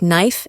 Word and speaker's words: knife: And let's not forget about silent letters. Words like knife and wrist often trip people up.